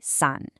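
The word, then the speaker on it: 산: In Korean, we say sun and it means, you guessed it, mountain.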